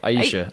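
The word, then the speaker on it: Ayesha: Aisha. Aisha Yeah.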